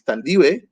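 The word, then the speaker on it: Thandiwe: decided you know what no my name is tandiway and i need you all to spell it correctly and call me that so she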